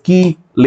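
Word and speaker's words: chelate: it being pronounced as key L you know key L that's how I've heard it to be that's how I'm pronouncing like this two or more lone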